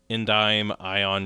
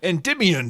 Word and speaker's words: Endymion: this lore dump from this Reddit user named Endyme Ion Dragon. I guess is how you say that. I don't know. Oh, Endymion Dragon.